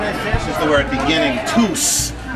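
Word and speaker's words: tús: This is the word beginning, tus. It's a long U because of the fada, tus. Long S because it's next to a U.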